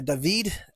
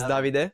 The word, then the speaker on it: Davide: And today Nick has brought his good guy down, a gentleman known by David, a nutritionist. David. Nah, it's fine. It's fine. I got there a lot. My name is Davide.